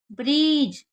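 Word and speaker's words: bridge: break ब्रीज ब्रीज ब्रीज यहां पर D silent रहता है तो इसे भी ब्रीज पढ़ते हैं कभी भी डी और जी साथ में आएगा तो डी को नहीं पढ़ा जाएगा तो ये क्या हो जाएगा ब्रीज ब्राइट कभी भी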